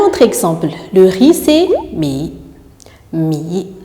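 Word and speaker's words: 米: Un autre exemple, le riz, c'est mi. Mi. Le ton se place sur la voyelle I et se prononce I comme en français.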